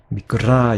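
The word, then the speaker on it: μικρά: 제가 짧게 발음한 것 같은데 자, 길게 발음해야 돼요. 미끄라 이렇게요.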